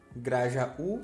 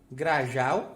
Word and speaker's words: grajaú: O sozinho na sílaba tem que ter acento. E esse acento representa que essa sílaba é a mais forte. Sem acento ficaria como, professor? Bau, grajal e pagel.